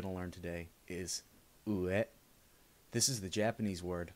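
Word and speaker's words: うえ: The final word that we're going to learn today is ue. This is the Japanese word for up. It's spelled u-e.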